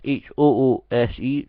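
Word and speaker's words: hoose: is shug's H party that's h o o s e since Scottish pronunciation of house from the 27th of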